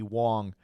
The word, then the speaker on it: Wang: There's a row instructor named Katie Wong, but she spells it Wang. Okay. It's spelled W A N G, but she pronounces